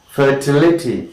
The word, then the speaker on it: fertility: Next is fertility.